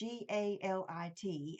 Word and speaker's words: Galit: It's either Galit or Galit. It's Galit, and she is the owner of Girlactik Beauty.